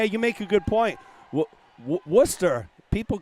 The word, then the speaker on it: Worcester: I don't think anyone's really upset at my pronunciation of the names. I think everybody understands. But, yeah, you make a good point. Worcester, people call it like Worcester.